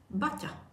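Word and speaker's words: Baťa: obuvnik in Czech Republic Bacha you truly know much about you pronounce it butter it's not we have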